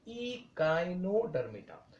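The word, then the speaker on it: Echinodermata: वो सारे स्टूडेंट्स को इचिनो कहते हैं, इट इज नॉट इचिनो, इट इज इकाइनो, इकाइनोडर्मेटा। And last is हेमीकॉर्डेटा।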